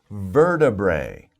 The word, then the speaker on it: vertebrae: it's kind of a difficult word let me spell it for you ver bray so verta bray vertebrae vertebrae that's a little more of a difficult